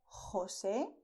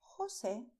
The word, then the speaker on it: José: You have the way of pronouncing with a deep sound with your throat, which is Juan, José, Jesús, Jorge.